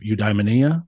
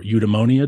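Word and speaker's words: eudaimonia: Greek philosophy in general there's an idea of udia or udonia depending on how you want to pronounce that word that's living an excellent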